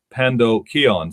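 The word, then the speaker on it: pandokheion: and the story of the Good Samaritan is Pando Keon so it's spelled p-a-n-d-o-k-h-e-i-o-n that was the normal word for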